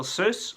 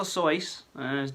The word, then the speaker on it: Seuss: Okay, so that was The Places You'll Go by Dr. Seuss or Dr. Seuss. Two different ways you can pronounce it, apparently.